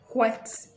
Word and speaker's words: whet: way, except you're doing the proper pronunciation of making the H pronounced, like whet your appetite.